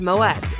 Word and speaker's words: Moët: the correct pronunciation of moette is Moet the French name might make people assume that the t is silent but it isn't the family name apparently